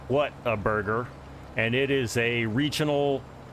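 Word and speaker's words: Whataburger: what a burger yeah we tend to say waterburger waterb in the south waterburger cuz we get lazy in how we pronounce things exactly yeah it probably sounded exactly like waterburger but it's what a burger and probably my favorite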